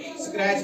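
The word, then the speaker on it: scratch: एस सी आर ए टी सी एच यहां भी सी एच से पहले टी आ रहा है। इसलिए यहां भी इसको स्क्रैच पढ़ा जाएगा। टी को साइलेंट रखा जाएगा।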